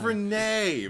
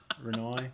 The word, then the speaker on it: Renai: n a i how could you not it's pronounced Renee but whatever go on well isn't the uh James ju he's Australian so maybe it's just oh Jesus Christ like her name's gonna be Reno renoi that's the new is our Australian going Rai